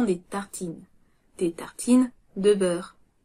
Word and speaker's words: beurre: Des tartines de beurre. Beurre. Beurre. On n'entend presque pas le R.